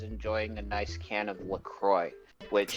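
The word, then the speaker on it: LaCroix: a nice can of Lucroy which he doesn't know how to pronounce because he he says it leak Roy in leak erosion again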